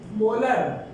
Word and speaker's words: molar: जगह, capital M, और इसको प्रोनाउंस कैसे करते हैं, 2 मोलर।